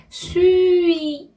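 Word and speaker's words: suis: 하고요 동사는요 수위가 나왔어요 여러분 우리가 설명을 했는데요 발음은 수위 이렇게 발음하셔야 돼요 수의 발음 아까 두유할 때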